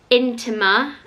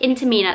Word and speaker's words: Intimina: So this is like your average menstrual cup, and this is the Intima, is that how you say it? Intimina, that's it, Intimina Lily cup.